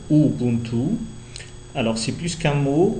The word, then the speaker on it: Ubuntu: euh linguisto culturel plutôt donc Ubuntu on le prononce Ubuntu alors c'est plus qu'un mot Ubuntu c'est plutôt